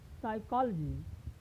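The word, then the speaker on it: psychology: यस के पहले आए, तो वहाँ पी को हम नहीं पढ़ते, यानी पी का उच्चारण नहीं होता है। जैसे साइकोलॉजी, न्यूमोनिया, शाम।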